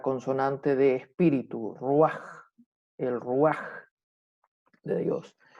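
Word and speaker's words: רוח: el ruaj de Dios. Los hebreos no pronuncian la R como la pronunciamos nosotros, sino que ellos la pronuncian como los franceses.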